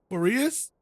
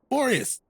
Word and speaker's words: Boreas: Boreas? That is not how we've been saying it. It's been 5 years. No one has said it. I've never heard anyone say it like that. Boreas.